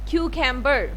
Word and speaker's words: cucumber: Next जो हमारे पास vegetable है क्यूकम्बर, क्यूकम्बर। यहाँ पर आप देख रहे हैं कि C आ रहा है, हम इसको C की साउंड में नहीं बल्कि K की साउंड में प्रोनाउंस करेंगे, क्यूकम्बर।